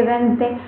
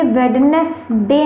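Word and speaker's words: Wednesday: आपका जो वेडनेसडे पढ़ते होंगे ना, कि संडे मंडे ट्यूसडे वेंसडे, तो ये वेडनेसडे नहीं होता है।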